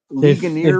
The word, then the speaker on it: Ligonier: Yeah, it's on the Ligonia, East Coast. Pennsylvania. How do you say that? How do you say that? The name of that I don't town? know. Ligonier.